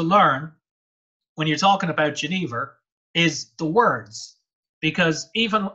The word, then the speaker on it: genever: And originally in the Dutch language, it was spelled with a G sometime around 230 years ago. For reasons no one is very sure, they switched over to doing it with a ye. So if you ask a Dutch person like Odd now, they'll pronounce it Genever.